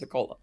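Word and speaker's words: Nikola: so I think it's Nicole I think it's Nicola vusevich I know vucevic I don't know Nicole I think it's Nicola yeah it's definitely Nicole I knew that was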